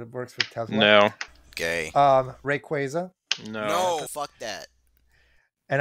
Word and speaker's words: Rayquaza: works with no gay rayquaza no and I also pronounce it correctly there we go it's Rayquaza no it's very quick it's rayquaza you uncultured [ __